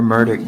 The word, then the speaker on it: Murdaugh: got yes spell your last name Richard Alexander murdick Jr m-u-r-d-a-u-g-h I go about buster murder I guess I've been saying it wrong Mr murdick is is your father sitting over here at